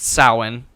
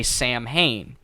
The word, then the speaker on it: Samhain: excited about it okay so the word is pronounced samhain but for some reason especially halloween two does this as well they say samhain which is basically halloween yes basically the original